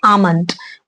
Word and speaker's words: almond: Box check कर लीजिएगा आलमंड में ए जो ए के बाद जो एल आता है वो असल में साइलेंट होता है। तो उसे हम आलमंड नहीं बोलते। हम इसे बोलते हैं आलमंड और ये भी एक नट है।